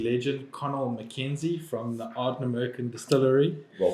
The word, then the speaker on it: Ardnamurchan: Today we are sitting with another whiskey legend, Connal Mackenzie from the Ardnamurchan Distillery. Well pronounced.